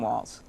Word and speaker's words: Walz: don't know who Tim Walls is I mean they may be spending the day mispronouncing his name and saying it's Walts instead of walls and so on and